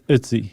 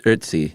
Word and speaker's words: Ötzi: It rhymes with Tootsie, I saw someone put it. I think our good friends at Smithsonian Magazine. Yeah, it's Ötzi. There's a bit of an R in there.